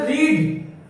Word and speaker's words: read: उसके बाद रीड, वही मीनिंग रहेगा। रेड पढ़ेंगे प्रोनाउंसिएशन में, रेड पढ़ेंगे, फिर रीड, फिर रीडिंग, फिर रीड्स।